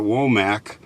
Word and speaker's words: Womack: name was Nannie Pearl Womack. Now, up north we would pronounce that Womack, but down here they pronounce it Womack.